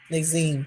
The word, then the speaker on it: Nasim: Nazine.